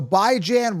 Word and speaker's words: Bijan: I'm the only one pronouncing it right. All right, so Bijan Robinson.